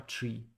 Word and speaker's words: trie: first of all how do you say a tree three how is this set am I saying it correctly try how you say this how to pronounce let's